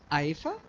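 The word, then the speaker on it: IEEFA: Sorry, how do you pronounce the institute? AIFA, and Gagan Sidhu, who it's my pleasure to re-invite.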